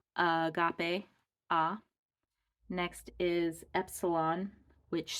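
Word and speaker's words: ἀγάπη: hamartia so this is agape it has a breathing mark the other direction this is a smooth breathing mark so that the alpha is pronounced just the way an alpha sounds ah Agape agape hamartia Agape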